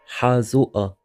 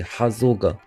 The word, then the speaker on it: حازوقة: Hazua. Hazua. Hazua. This is the northern pronunciation where the qaf is pronounced as a glottal stop, almost like a hamza.